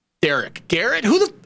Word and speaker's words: Derek: the time i mean all my life i've been called things like gary garrett garrick eric doesn't matter still like it's derek but they're like eric garrick derek garrett who the f